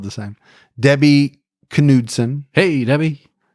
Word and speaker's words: Knudsen: Debbie Knudsen. Hey, Debbie. I'm always not sure if you say the K, but I'm pretty sure with that name you do say the K, right? It's Knudsen.